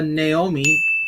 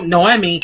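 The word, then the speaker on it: Noemí: totally forgot that uh naomi no no emmy i hate you all i've been pronouncing it from the beginning no emmy naomi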